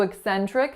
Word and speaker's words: eccentric: So eccentric has 3 syllables. The first syllable is what? Eccentric. So it's a schwa. The second syllables are winner, sen, with a lax e sound. And then the third syllable is trick. So for the vowel in the third syllable, it's really kind of a blend of a lax I and a schwa, though I recommend if